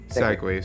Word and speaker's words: segue: a segway home segment segways sorry i don't have a degree in english who knows if that's even my first language i do if i know okay justice say how it's pronounced it's segway thank me segway yeah